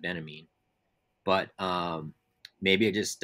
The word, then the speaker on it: Benjamin: on walter benjamin or benjamin you know benjamin i guess they pronounce it benamin but um maybe i